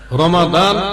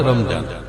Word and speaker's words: রমাদান: রমাদান মানে রমজান মাস রমাদান আরবি রূপ কোরআনের মধ্যে আছে রমাদান আর এটার ফার্সি উচ্চারণে বলা হয় রমজান ফার্সি উচ্চারণে বলা হয়